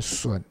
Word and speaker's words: 隼: 那个字呢，念隼。做鸟的时候念成隼，啊，那